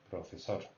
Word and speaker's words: profesor: Profesor. So tonic accent is on sor. Don't forget, the R here is like between the R and the L.